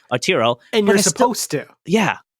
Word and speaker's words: Arturo: It's Ataro, or oh my god, I'm saying his name wrong. Arturo.